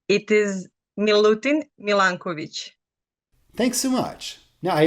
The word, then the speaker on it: Milutin Milanković: So how do you pronounce this man's name? It is Milutin Milanković.